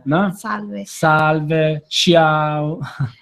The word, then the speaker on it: Salve: Salve. Salve, ciao. So he's saying to put the syllable stress there on the first syllable.